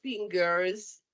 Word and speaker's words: fingers: five toes yeah and these are five fingers in plural like a z sound right be careful with